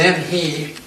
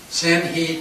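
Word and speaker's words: Zheng He: Now, his name, I pronounce it Zhen He. Here it is right here. That's not the way the Chinese pronounce it at all, though.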